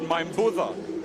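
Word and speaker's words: Maibuca: Karalo, is it Karalo Mainbuka, or being a Fijian really, is it Mainbutha? His father is a Ratu, a Fijian Ratu, who comes from Butha Bay. Well, let's go for the Fiji pronunciation.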